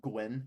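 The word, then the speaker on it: Nguyen: because I don't think nugan has very good I by the way I I know his name's pronounced Gwyn I'm just calling him nugan because it's funny uh I think J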